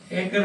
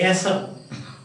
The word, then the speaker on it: acre: Listen, acre we say. We don't say acer. We don't say acer, but we say acre.